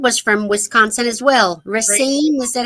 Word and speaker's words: Racine: Racine, is that how you pronounce it?